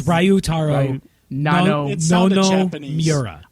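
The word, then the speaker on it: Ryutaro: The video shows, excuse my pronunciation here, Ritaro Nanumura. Would you say it like that? I think that's pretty close. I think it's Ryu Taro. Yeah, you have to enunciate all the vowels. Yeah, it's Ryu Taro.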